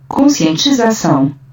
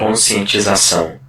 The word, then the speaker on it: Conscientização: Conscientização. Hope you heard that. Conscientização. Yeah, pronounced twice.